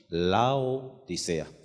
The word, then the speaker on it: Laodicea: Se escribe en griego así, Laodicea. Exactamente igual como suena en español.